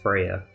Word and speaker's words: Freya: Oh, that's pronounced Freya.